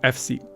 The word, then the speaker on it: Efsi: In 1971, Matchbox changed its name to Efsi, which is a phonetic pronunciation of FSI.